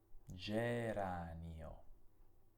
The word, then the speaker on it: geranio: Questa parola è il nome di un fiore e si legge geranio. Ancora una volta la G ha un suono debole perché è seguita da una lettera che è la E. Come leggiamo la parola successiva?